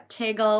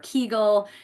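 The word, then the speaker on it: Kegel: the pelvic floor muscle some of you may have heard of a kegle or a keigle it's pronounced in different ways uh but the pelvic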